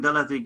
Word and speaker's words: ܕ: If I have a dot underneath it, so the sounds of TH is going to put dot here. That is for TH. Otherwise is a D. D. The sounds of Daleth is D.